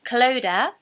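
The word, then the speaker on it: Clodagh: for girls with Bo is the nickname perfect cloda the Irish River spelled c-l-o-d-a-g-h cloda um right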